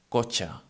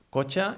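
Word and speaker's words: cotxe: In this case, when we find these two letters together, they sound as a ch, like in chocolate again. For example, we have the word cocha. Cocha is spelled C-O-T-X-E, en català C-O-T-X-E, and it means car. And well, here we find this, no, the T and the X, and it sounds cocha.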